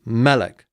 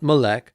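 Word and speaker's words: מֶלֶךְ: on the first syllable so it is Malik not millech Malik Malik next Levitt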